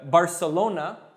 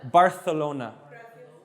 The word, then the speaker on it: Barcelona: in Spain is that the C, if it's like an E or an I after, it's pronounced like a TH. So here, or the Z, like Barcelona, they call it Barcelona.